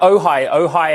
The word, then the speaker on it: Ojai: Yeah, Ojai as in the city in SoCal, but also hi.